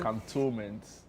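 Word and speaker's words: Cantonments: counttoments can count 17 to 19 cantoment that's the correct pronunciation can about istoment it's raw can but there's no e after the n No.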